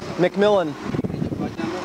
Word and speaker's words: McMillan: McMillan.